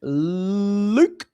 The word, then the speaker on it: Luke: use a promo code LUKE, L-U-K-E, it rhymes with puke.